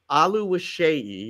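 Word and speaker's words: Oluwaseyi: sat with him it's t ALU wasi that's ALU wishi it doesn't look like that but that's that's the way it's pronounced and um he's a forward for Minnesota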